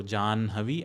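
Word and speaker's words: जाह्नवी: So the last ones which are nasal then you utter that nasal sound first and then expel the air which is ha. So jan havi and braha are the correct pronunciation.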